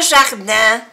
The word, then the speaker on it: jardin: I-N, una vocal nasal que se pronuncia en. Jardin.